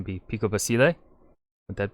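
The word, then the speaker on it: Pico Basilé: but with the proper pronunciation be picobasile would that because the accent mark over the e did i say it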